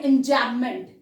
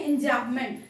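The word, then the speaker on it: enjambment: हम बोलते हैं एंजैबमेंट, जब हम प्रोनाउंस करते हैं तो एम को बहुत ज्यादा स्ट्रेस नहीं देते हैं, बट ये अगर स्पेलिंग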